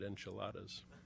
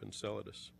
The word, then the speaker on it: Enceladus: one of those places I recently heard a TV newscaster pronounce it enchiladas our speaker tonight will show you huge ice icy geysers continuously erupting from the south polar region of Enceladus imaging and compositional data